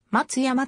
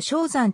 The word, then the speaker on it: 松山: 改変された松山は日本語では戦前からの慣例で松山と読むこともあるほか漢音読みの正三と読むことも